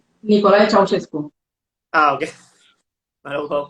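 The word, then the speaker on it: Nicolae Ceaușescu: De Nicole Cescu. Nicolae Ceausescu. Ah, ok, no lo puedo pronunciar, pero formó parte de la llamada generación del sacrificio.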